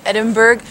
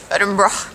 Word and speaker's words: Edinburgh: As a Canadian, I would be saying Edinburgh, but I keep hearing the locals say Edinburgh.